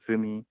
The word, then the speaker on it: Zumi: AI called Zumi uh it's spelled Z and uml so it looks like youu but with two do on top and Mi so it's called Zumi um and she is